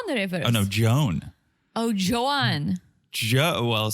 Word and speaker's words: Joan: things oh it's a woman that's you say John the rivers oh no Joan oh Joan Jo well spelled like that but pronounced like Joan okay okay